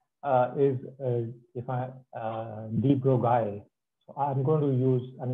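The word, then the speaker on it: de Broglie: was Aristocrat so his his name is obviously not pronounced B Broly that's how um ignorant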